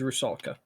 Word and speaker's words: Rusalka: Is Rusalka. You pronounce the K.